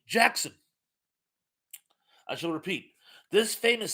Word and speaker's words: Jaxxon: And well, Jackson is pronounced Jackson.